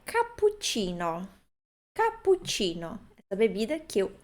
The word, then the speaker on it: cappuccino: Mas a dificuldade talvez seja porque pense que tenha uma outra pronúncia, mas não. PU é PU, mesmo que tenha dois P's. CI é Ti, mesmo que tenha dois Cs.